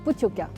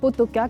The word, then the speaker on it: Pottoka: très talentueux du restaurant Pooka attention ne pas prononcer potoka comme ça s'écrit parce qu'ici on est au cœur du Pays Basque donc ça rigole pas